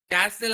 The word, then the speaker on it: castle: Pronounce it, cart. And the last one is C-A-S-T-L-E, castle andru, castle andru, it is castle.